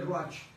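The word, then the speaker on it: רוח: Se escribe ruach. R-U-A-C-H. R-U-A-C-H. Entonces se pronuncia ruach.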